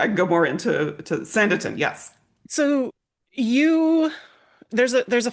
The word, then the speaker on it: Sanditon: So It's like Sandy Town. Think of it, right? It's a town built on sand. Anyway, I can go more into Sanditon.